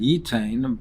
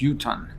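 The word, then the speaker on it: יֻתַּן: The Torah uses the word yud tes nun, which normally we would read yitain, but it's pronounced yutan.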